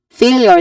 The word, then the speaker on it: failure: first um option failure failure has two syllables it starts with fay which has a clear a dip thong sound and then leor again leor so fail yeah fail failure so leor there is A y sound here.